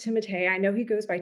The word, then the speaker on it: Timothée: I want to have a small Pomeranian, and I want to name the dog Timote Shalomare, and it has to be pronounced Timote.